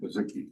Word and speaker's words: Bazicki: Did you say Bazicki? Bazicki. Okay, thank you. Two syllables.